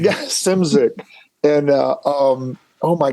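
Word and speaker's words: Szymczyk: Walsh stuff was Bill shimzick am I saying his name right yeah simsink or simzik I always say it wrong man with no vowels in his name yeah simsic and uh um oh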